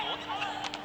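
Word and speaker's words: Nuc: That off speed coming from Nut Shulim. Now serving number 18. Look. Diba? Yun yung confusing na part eh. Ang spelling daw ay N-U-C, but ang pronunciation is like Nut.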